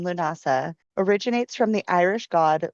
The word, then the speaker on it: Lughnasadh: So, it is pronounced Lunasa. The ethmology of the name Lunasa originates from the Irish god Louu and the word Nasa meaning assembly or festival.